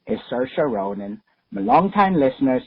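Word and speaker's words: Saoirse: because I have an artish name people keep mispronouncing it is sersa not Shay not sha not sarice Witherspoon sersa anyway love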